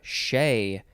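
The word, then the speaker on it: chez: odd to me uh next we have shea but it is spelled c-h-e-z it's a preposition from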